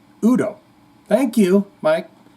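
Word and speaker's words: U.D.O.: the band Udo wrong there are periods in the name yes for the for a reason yep it's pronounced Udo thank you Mike it's Udo Udo Dirk Schneider overdrive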